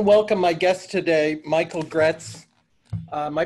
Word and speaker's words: Graetz: i want to welcome my guest today michael gretz uh am i pronouncing your name correctly michael yes okay michael